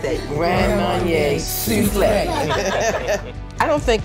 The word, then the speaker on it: Grand Marnier Soufflé: Grand Marnier Soufflé.